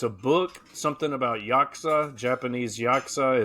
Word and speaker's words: Yakuza: Yakuza. Thank you. Not Yazuka.